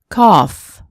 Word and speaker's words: cough: Off, cough, trough.